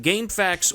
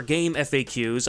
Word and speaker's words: GameFAQs: Moving on, Gamefax, or Game Faqs, I've heard people pronounce this both ways, was another well-known website back in the day.